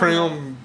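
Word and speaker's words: crème: Brule it comes from crem Brule Brule crem creme crem crem not like cranberry like cram no not like like creu in French it's crem crem she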